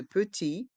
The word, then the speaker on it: petit: Des petits gâteaux. Des petits gâteaux. Petit. Le T et le S de petit, à la fin du mot, sont muets.